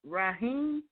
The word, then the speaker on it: Raheem: And here we actually have Raheem. I believe that's how it's pronounced. And he's actually on the line. am I pronouncing it right? Raheem? Yep, that's right.